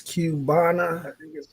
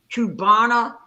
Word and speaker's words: Cubana: up her name hold up i think it's cubana that's the name yes yes that's the name brother thank you so much that's the name kubana lust did i say it right yes and